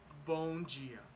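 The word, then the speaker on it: Bom dia: Gia okay so remember if there's a knee a d and an i is going to be G if if it's there's a d and an e and if it's not accented is also G I'm gonna explain that better later but right now let's just focus on bone Gia bone Gia boom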